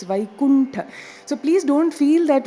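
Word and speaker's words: वैकुण्ठ: It is not Vaikul, it's Vaikuntha.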